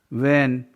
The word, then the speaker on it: when: वेन, WHEN. W उसके बाद H इसलिए साइलेंट है H. वेन.